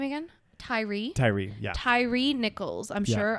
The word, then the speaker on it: Tyre: Tyre, yeah.